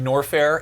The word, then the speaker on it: Norfair: Like this is actually It's actually Norfair.